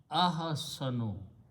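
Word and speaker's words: أحسن: You put an alif in the beginning and pronounce ahasanu. When you pronounce the word this way, it becomes superlative degree. Hasana means good. Ahsanu means better, okay, or best.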